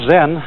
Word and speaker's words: Zen: it's spelled z-e-n and that is the japanese way of pronouncing the chinese word chan and this in turn